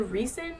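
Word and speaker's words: Rhysand: meet recent is it it's either recent or Reese and I'm not exactly sure I see a reason in my head or interesting Reese but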